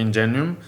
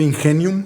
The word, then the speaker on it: Ingenium: No a mi humilde conocimiento, pero en así ánimo de comercial, si no te molesta, por ejemplo, tengo entendido que Ingenium está haciendo a partir del lunes, creo, como